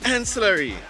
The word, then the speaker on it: Anse La Raye: called waste village we know Eisler we aren't in slurry did I pronounce it right yeah how are we going